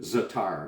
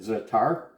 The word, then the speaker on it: za'atar: make great pita chips like i mentioned with zatar zatar is spelled z a with apostrophe at8r again you